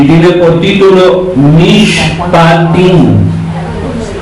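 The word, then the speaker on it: Mishpatim: Apará número 18 y tiene por título Mish patin. M patín se escribe n i s h p a t i n. Nish patín significa y justo significa sentencia, ordenanzas, leyes, mandamientos.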